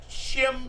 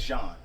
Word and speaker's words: Jean: Botham Shim. It's Jean. Like Botham Wyclef Jean.